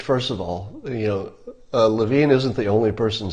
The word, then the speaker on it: Levin: for the campaign okay Levine Levin am I still saying it wrong love-in I guess apparently I'm still pronouncing his name wrong I apologized to mark